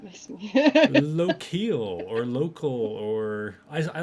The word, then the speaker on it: Lokil: or i like low-keel because i don't like it sounding like local i'm a local a little man well like or if you're if you're a norse loki l right okay but i've always pronounced it local i don't know anybody